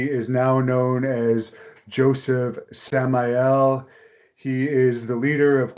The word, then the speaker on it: Samael: your last name again it's Joseph Sam L Samael Samael okay I'm I'm terrible